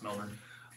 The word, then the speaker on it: Melbourne: Yep, it's Melbourne.